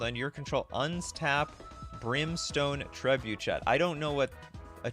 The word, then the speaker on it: trebuchet: the player equal to its power or something Trey Boucher okay whatever okay I don't know how to pronounce these words Dre Boucher the brimstone Tre Boucher okay trebuchet is some sort of French throwing Cannon yeah